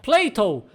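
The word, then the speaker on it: Plato: ela confiar em inglês Platão se pronuncia Cleiton que é muito parecido com play-doh aquela marca de massinha agora acompanha agradável surpresa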